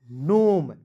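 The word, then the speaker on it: gnome: wrist वरिष्ठ knife G एन ओ एम ई नोम डी ओ यू बी T doubt H ई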